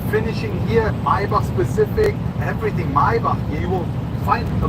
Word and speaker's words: Maybach: It's a Maybar. Maybach. It's not a Maybach. It's a Maybar.